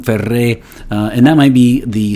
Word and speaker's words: Ferré: Either way, it has an accent on the end, so it's not Ferré, right?